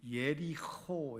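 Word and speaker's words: יְרִיחוֹ: 섭리에 우리가 함께 보고 있는데요에 먼저 여리고 오늘 살펴볼 내용이 이제 여리고 여리고는 정확하게 히브리어로 발음하면 어이 예리코 이렇게 돼 예리코 이렇게 발음이 됩니다 그래서이 마지막이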